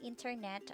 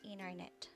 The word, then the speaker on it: internet: silent t after n the t after an n is often silent in american pronunciation instead of saying internet americans will frequently say internet let's practice and repeat